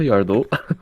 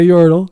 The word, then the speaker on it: Yordle: Not a Yardle. Not a Yordle. Yeah, there you go.